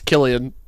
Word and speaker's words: Cillian: It's Killian.